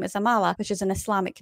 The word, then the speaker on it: Amala: a trump supporter yet her name rhymes with Kamala just saying and keep